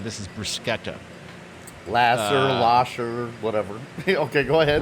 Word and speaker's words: bruschetta: It's actually bruschetta, Okay. like C-H-E-T in the middle. So everybody says bruschetta. This is bruschetta.